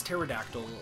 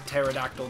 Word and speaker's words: pterodactyl: because it's like, okay, why is pterodactyl the way that it's pronounced when there's a P in front of the T? Like, why is the P silent?